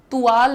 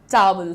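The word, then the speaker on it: towel: इन द टॉवल अच्छा देखो टॉवल नहीं होता है तुवाल नहीं होता है टॉवल होता है क्या बोला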